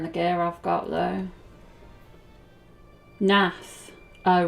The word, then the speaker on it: Gnath: Nath. Oh right, sorry. Were I of the Gnath? Nath.